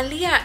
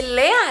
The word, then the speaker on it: Leah: Mi hija se llama Lía. Entonces, pero todo el mundo le dice Lea. Le digo, todo el mundo, que si voy al doctor aquí, todo el mundo lo pronuncia como Lea. Y luego me dice, es por la H.